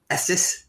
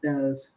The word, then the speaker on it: Estes: Well, it's funny because I either get Estes or Estes. I'm like, I'm not Spanish, and it's not Texas.